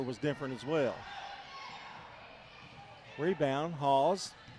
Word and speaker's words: Hawes: Rebound, Hawes. That's spelled Haws, like pause.